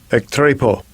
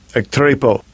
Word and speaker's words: ektrepo: Strong's G 1624, ektrepo, ektrepo. That will be the pronunciation in the Greek.